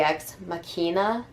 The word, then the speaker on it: ex machina: Latin it would be X makina right like I took Latin for years I think in the proper pronunciation would be they use ex machina but nobody says that so whatever um let's